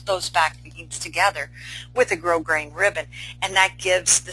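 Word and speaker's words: grosgrain: stitch together I use grow grain Ribbon or as you see it's spelled gross green ribbon but it's grow green ribbon and I kind of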